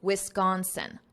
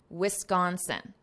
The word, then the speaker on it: Wisconsin: neuroscientist from the University of Wisconsin notice this pronunciation Wisconsin Wisconsin Richard Davidson so this is the neuroscientist who